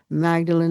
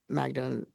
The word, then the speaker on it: Magdalen: It's called The Fallen, The Lost Girls of Ireland's Magdalen Laundries and a Legacy of Silence.